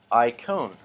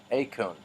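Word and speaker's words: εἰκών: gupta toss as egypt i cone oh excuse me a cone a cone because the ii i makes this a sound a cone is an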